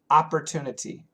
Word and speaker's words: Opportunity: Opportunity. Opportunity. Opportunity. Opportunity. Flap T.